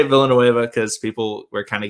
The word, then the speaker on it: Villanueva: alejandro i'm gonna say villanueva from now on y'all got mad at me for pronouncing it in the the spanish way um double l is why in spanish um i am bi-literate